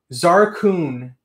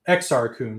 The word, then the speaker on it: Exar Kun: with podracer for an anniversary of episode 1 Zara kun as a Exar Kun sorry I didn't pronounce that career blue snaggletooth I mean you